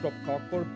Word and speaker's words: kroppkakor: Also, we call it kroppkakor, body cakes. Strictly pronounced.